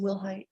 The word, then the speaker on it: Wilhight: Am I pronouncing your last name correctly? Yes, ma'am. Will height?